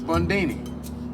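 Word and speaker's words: Bundini: What'd you say your name is? Bondini. Rhymes with Houdini, yeah, except that don't rhyme.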